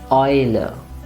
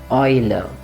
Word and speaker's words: Eule: Or this one, AU, remember the pronunciation is oi, and it's a nice long oi. So the word would be Eule. Once again, Eule.